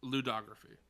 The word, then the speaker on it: ludography: And I looked it up, and it's ludography. That is how you pronounce it.